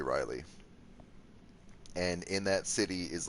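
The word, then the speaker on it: R'lyeh: a city called the city of Reilly or it's pronounced some weird way but I would say Reilly and in that city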